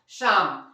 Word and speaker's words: psalm: पर क्या रियली ये पसलम है? डेफिनेटली नहीं गाइस, इसे हम लोग पढ़ेंगे क्या, शाम। SA मतलब PSALM, इसे हम लोग पढ़ते हैं शाम। क्यों? कि यहाँ पर पहला जो है क्या साइलेंट है, पी। क्यों साइलेंट है पी? क्योंकि ये एस के पहले आया है ना।